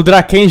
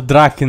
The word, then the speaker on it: Draken: Na moral, o Draken já é meu preferido. Tava falando errado, Draken, né? É Draken, pelo que ele pronunciou aqui no rap.